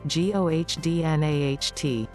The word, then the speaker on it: godnatt: Swedish, godnatt, gohdnaht.